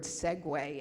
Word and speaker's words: segue: Now, we did not have music in my, we didn't have I didn't know the word segue, and if it's called segue, why isn't it spelled like that machine?